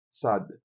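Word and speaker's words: צ: Tsad é o som do TS.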